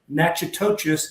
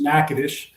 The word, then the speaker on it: Natchitoches: Northwestern State being one of them, and I took a visit out to Northwestern and in Natchitoches, Louisiana. It's Natchitoches if you phonetically say it, but it's pronounced Natchitoches.